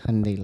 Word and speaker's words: Hyundai: someone like from Hyundai say that it's Hyundai like Sunday.